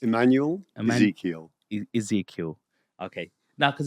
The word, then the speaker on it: Immanuel Ezekiel: and I would love to share with you Emanuel did I pronounce that right close enough for me go on to tell us exactly how it's pronounced Emanuel Ezekiel Ezekiel okay now because it's really important to